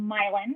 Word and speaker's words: Milan: area of New Hampshire, these two different places, Pittsburgh and Milan. And yes, that is how you pronounce it in that area of the world.